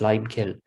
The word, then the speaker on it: lime kiln: that feels called the lime kill it's usually pronounced lime kill now there's just one